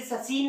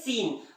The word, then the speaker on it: scene: कैसे, देखिए सीन, SCENE, यस, इसे ससीन नहीं पढ़ते, क्या पढ़ते हैं, सीन।